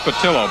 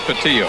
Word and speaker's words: Pattillo: Pattillo is number 46 that is pronounced Patil oh by the way not Patil I don't know how